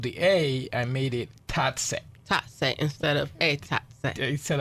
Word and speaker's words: Tatse: Okay, so pronounce the name of your restaurant for me. Tatse restaurant.